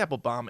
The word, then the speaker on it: Applebaum: yep as abe applebaum apple boom it's they say apple bomb it's spelled baum bothers me it's very